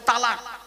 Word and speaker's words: তলাক: শব্দটা কিন্তু তালাক নয়, শুনে নিন, শব্দটা তালাক নয়, শব্দটা হলো তলাক। তলাক ওর আরবি উচ্চারণ কি? তোয়েল আমালিফ কফ, তলাক। বাংলা উচ্চারণ তয়বায় লয়াকার ক।